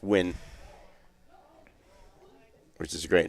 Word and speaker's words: Nguyen: that was huge for the N nwin or fans out there or correctly pronounced win which is a great